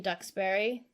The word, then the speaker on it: Duxbury: I spent my New Year's in Duxbury. Ooh, Deluxeberry. Yep. Shout out to my Ducks peeps. Quack, quack. It's funny because it's not spelled like ducks.